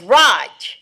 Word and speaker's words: Raj: It's Raj. Yes. It's R A J. So that's silent. That's Raj. No. No. J is pronounced. It's not H.